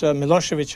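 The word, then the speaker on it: Milošević: of these current leaders milosevic in serbia when it's written when you see it on the newspapers it's it ends with a c but actually it is pronounced as if it were ch do you find people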